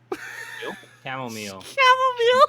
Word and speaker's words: chamomile: t let's use chamomile chamomile don't pronounce the h don't do not pronounce